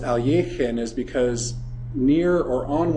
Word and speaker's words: Alekhine: He said incidentally that the reason it was pronounced alin is because near or on one of his